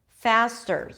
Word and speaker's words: faster: take the word faster faster here it's a true T okay it's a regular T because it appears after an ass unlike the word